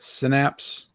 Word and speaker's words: Synapse: Synapse.